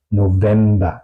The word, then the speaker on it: November: es una excepción y se pronuncia como una W, como base o November.